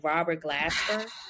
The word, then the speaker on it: Robert Glasper: And did you see what he said about what his name, Robert Glasper?